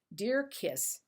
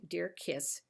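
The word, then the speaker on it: Djer-Kiss: and over again and each and every one of their ads says it's pronounced d-e-a-r Dash k-i-s-s This one is John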